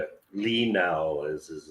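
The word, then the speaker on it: Li Nalas: is what Lee Now is that how you pronounce his name? Yeah, Lee Now is his name.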